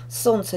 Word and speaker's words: солнце: Солнце. Непроизносимо «эль». Проверочное слово «солнечный».